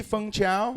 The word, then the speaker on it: Feng Chao: pronunciation of your name it used to be fung chao you should be functional